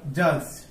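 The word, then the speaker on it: judge: রচনা করা ওকে এরপর দেখব আমরা জাজ এই জাজ শব্দে ডিটা সাইলেন্ট এর অর্থ হচ্ছে বিচারক এরপর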